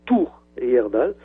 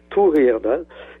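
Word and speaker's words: Thor Heyerdahl: l'expédition de thorerdal le grand ethnologue norvégien on prononce tour etdal ça s'écrit Tor th h o ça se prononce tour tour etdal et donc en 1937 il se trouvait à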